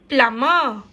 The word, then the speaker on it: plumber: When your water leaks, you should call a good plumber.